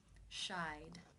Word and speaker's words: shied: you pronounce this word the final sound and the infinitive is the AI as in buy diphthong therefore it is case 2 and the II D is pronounced as the D sound shied how do you pronounce